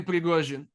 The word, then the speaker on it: Prigozhin: Yevgeny Prigozhin. Thank you. I'll ask you to pronounce it every time his name comes up, because you're so good at it now.